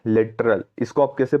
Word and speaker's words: littoral: देखिए LITTORAL मतलब क्या होता है, लिटरल। इसको आप कैसे प्रोनाउंसिएशन करेंगे, इसका इसका प्रोनाउंसिएशन कैसा होगा, लिटरल कोऑपरेटिव सोसाइटी।